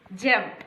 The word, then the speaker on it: gem: When G precedes before the letters I, E, Y, that is also in not all words, in some words. We have to pronounce this as J.